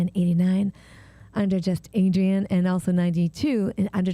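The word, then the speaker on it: Adrienne: just space just no just a d r i e n n e Adrian oh I see yeah just not just you're say my name Adrian without the Z not CU his b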